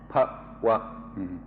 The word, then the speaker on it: bhava: ภาวะนะอีกคำหนึ่งเดี๋ยวนี้ภาวะภาวะภาวะ Pa-wa. If I make it pa-wa, that's a different word with a different meaning. So I'll try to say it properly.